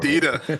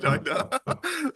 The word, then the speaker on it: Dita: Is it Dita or Dida? I don't know. Dita. Right? Yeah, I know, because that would piss me off if someone said Dida.